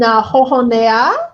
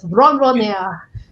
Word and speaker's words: ronronea: And jojonea. No, sorry, that's a French way to pronounce the Spanish word. Ronronea.